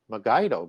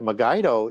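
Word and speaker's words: Megiddo: rooted in those words magido because that's going to become the mountain of the assembly and people think that megido is you know where armageddon's going to be found because they used a hard G because they didn't have the proper lettering in Greek to do it and I'll show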